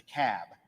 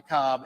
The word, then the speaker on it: Cobb: yankees in the room it's the cab not the cowboy not the cobb it's the cap so we got to